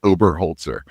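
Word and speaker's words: Oberholtzer: Um, it's uh it's Mike Ober Holtzer. It's just how it spells, but it's, you know, a lot of syllables there.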